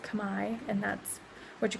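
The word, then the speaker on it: Khmer: language here is combined it's spelled khm er which you would think is come here it's pronounced come I and that's what you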